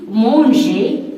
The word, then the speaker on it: manger: Donc, ces verbes, la lettre R ne se prononce pas. On dit manger, parler.